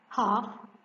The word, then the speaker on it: half: and write the word number three half what is the silent letter here letter l how do we write